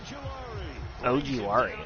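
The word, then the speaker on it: Ojulari: And he can't get a sack there by Ojuari. That's how you pronounce that name.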